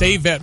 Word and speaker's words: Avett: Somebody just texted in and said it's Avett Brothers.